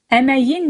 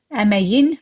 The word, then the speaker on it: əməyin: Now here the word is emek, the actual word labor. But of the labor, when you add suffix k sound at the end, it turns into y. Əməyin meyvəsi, fruit of labor.